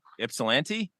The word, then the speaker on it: Ypsilanti: They're in, I'm going to say this wrong, Ypsilanti, Michigan.